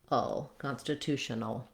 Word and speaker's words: constitutional: Shan constit tional um that L is a syllabic l meaning there might be a little schw before it but basically you're moving right from the N to the L the L itself counts as the whole syllable without really much of a vowel um this is the